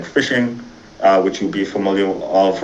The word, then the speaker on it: phishing: Spelled with a PH, but similar to regular phishing, right?